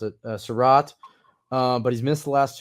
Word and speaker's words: Surratt: We know Saul likes Chaz Surratt. There we go. I always mispronounce it. Surratt.